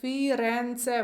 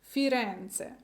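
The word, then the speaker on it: Firenze: рагаці тому запам'ятовуємо значитьста це не Флоренція а саме Фіренце вимовляємо все дуже гарно разом Фіренце молодці наступного року я повернусь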